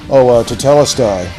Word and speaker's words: Tetelestai: Tetelestai, which is actually it's a Greek word that best translated into English as paid in full.